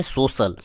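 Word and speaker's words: social: देखिए यहाँ पे देखिएगा एस ओ सी आई ए एल, तो इसे हम पढ़ेंगे सोशल, क्योंकि यहाँ पे तलाबी स आ रहा है।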